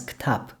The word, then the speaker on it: кітап: The Arabic word for book originally has b at the end, but in Kazakh it's pronounced and written as ktab.